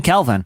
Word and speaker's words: Kelvin: You're like, when your kid's named Kevin, I've been calling him Kevin for like 2 years. No, it's been Kelvin. Yeah, you it's just Kelvin. been mispronouncing it. It's Kelvin. See, the tattoo I'm says embarrassed.